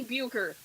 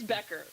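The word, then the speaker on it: Bueckers: Becker Becker sorry for it looks like it should be Buer but it's Becker.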